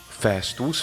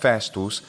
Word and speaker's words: festus: for holidays and weekends it's worth noting that festus may or may not have had a long vowel in classical latin etymologically it comes from a long vowel for certain however the spanish word fiesta and the open italian vowel fasta seemed to suggest that the vowel had become short or at least remained